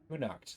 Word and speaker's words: Kunakt: Kunakt, that's how you pronounce that.